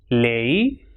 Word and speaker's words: ley: And when it comes at the end of a word or when it comes alone, it will pronounce as e, like rei, lei, guay, delante y detrás.